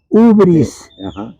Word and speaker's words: hubris: tercero síndrome debris hibris lo voy a pronunciar en griego hibris escribe con h ubris ubris con h ubris en griego hubris significa arrogancia soberbia